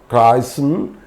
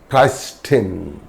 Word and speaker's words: Christen: So, for example, Christen, it's not Christen, Christen, fasten, listen, hasten, etc.